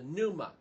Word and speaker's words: pneuma: In chapter 17, now he changes Abraham's name and gives him the spirit, the breath, the pneuma. That's how it's said in Greek, all right?